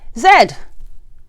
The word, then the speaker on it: Z: my british um viewers saying z because um this is the only letter in the alphabet that's pronounced differently between the two countries zed all right but you